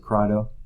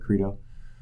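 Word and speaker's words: Crito: i think this is credo some people pronounce it crydo but credo you might want to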